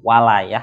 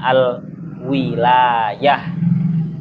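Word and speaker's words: الوِلاية: kiamat alwalayil alwalayah laf alwalayah itu bisa menggunakan fathahnya Wa walayah kalau walayah itu maknanya anusr pertolongan wasriha dalam satu qirah itu menggunakan kasrahnya wau jadi bacanya Al wilayah bacanya Al wilayah alwilayah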